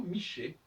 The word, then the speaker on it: Michel: La bonne prononciation, c'est effectivement Miché.